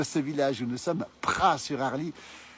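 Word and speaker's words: Praz-sur-Arly: village où nous sommes Pras sur Harle ça s'écrit avec un Z mais on prononce pas le Z s'appelle les pralins et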